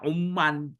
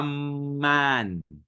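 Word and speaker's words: عمّان: Amman ini kan bisa aja orang membacanya umman imman ya kan. Makanya bifathil ain wa fathil mim almusyaddadah amman asimatul urdun ibuota dari Jordaniah.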